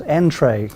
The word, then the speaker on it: nTrai: And you call the business Entray. Can you spell that, please?